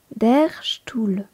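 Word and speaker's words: Stuhl: qui signifie la chaise derchtou petite particularité le ST en début de mot se prononce on le prononce comme s'il était écrit s C H t stoule l'article de couronne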